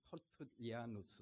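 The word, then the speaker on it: Tertullianus: 터툴리안, 이 영어식 발음이고요. 라틴식 발음은 터툴리아누스 이렇게 발음을 합니다.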